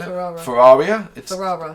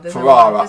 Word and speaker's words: Ferrara: Ferrara. Ferrara.